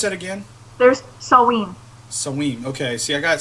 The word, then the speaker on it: Samhain: Pronounce that again. There's Samhain.